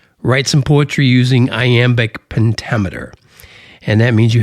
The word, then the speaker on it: iamb: So, for example, an iamb, and that's I-A-M-B, iamb, that's not easy to say, iamb foot, is a word that uses an unstressed syllable followed by a stressed syllable, as in delight.